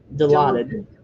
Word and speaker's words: Dilaudid: Oxycontins, Xanax, and how do you pronounce that? Dilaudid.